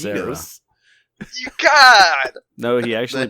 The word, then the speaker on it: Genos: The cyborg It's Genos. You got. No, he actually pronounced Genos properly.